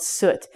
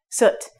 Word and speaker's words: soot: And this is soot. This word is very fast.